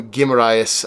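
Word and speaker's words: Guimarães: um but yes visuals Bruno gimmer however you want to pronounce it I pretend like I'm Brazilian gim and and I pronounce it that way he made a 100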